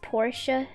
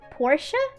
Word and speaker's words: Porsche: Porsche is also not pronounced Porsche. Porsche.